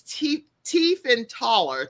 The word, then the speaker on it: Tiefenthaler: And so Abigail, and you can see how her name is spelled, but it's Tiefenthaler.